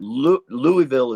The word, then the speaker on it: Louisville: Did y'all know, by the way, that Louisville is not the way? Louisville is a 2-syllable word.